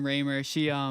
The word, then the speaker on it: Raymer: Well, yeah, Lauren Raymer. Raymer. She's yeah, I didn't know how to pronounce her name either. When I first met her, I called her Rammer for the longest time, and she's like, "That's not my name."